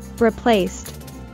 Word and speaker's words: replaced: And when ed is added to the end of the word in its passive form, this ed is pronounced as t. So we have replaced.